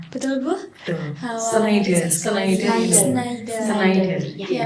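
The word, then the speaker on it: Schneider: Sneider. Sneider. Iya, P. Saya enggak bisa bahasa Inggris jadi bacanya skider. Skyider gitu, Bu. Yang benar apa? Sider. Sneider. Siderider.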